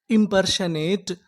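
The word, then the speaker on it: impersonate: यहां पर जो हमारा ओ है ये साइलेंट रहेगा। एन ए इसे क्या पढ़ेंगे? ने इटा। तो हमारी पूरी मीनिंग क्या बनी? इमपशनेट इंपर्शनेट इंपर्शनेट इंपर्शनेट का मतलब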